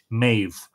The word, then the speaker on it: Medb: So when you see M-E-D-B, what you should be thinking about is M-E-D-H-B-H, Maeve. And it's not that it's anglicized, it's how it's pronounced in Irish because of something that we call lenition, which is basically in